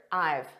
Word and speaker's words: I've: a look at I this is a contraction of I have so we say it as one word I've I've and it's a very unstressed pronunciation repeat after me I've I've I've ordered so notice this